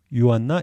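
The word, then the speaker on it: Johanna: 유튜브 채널인 거 같아요 이분도 제이루 쓰지만 발음은 요로 한다라는 것 게르만 식으로 발음을 한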